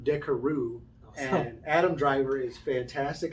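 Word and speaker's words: Carrouges: it all up but in the movie they call him decaroo and adam driver is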